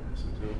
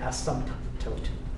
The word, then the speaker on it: asymptote: Asymptote. That's called an asymptote. Yep. Has a silent P in it. Yeah, it's called an asymptote. At least I think the P is silent. I don't hear asymptote.